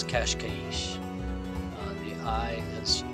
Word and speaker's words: Cascais: here and in portuguese the i in kashkaish is actually an e which is a lot like the spanish the i is turned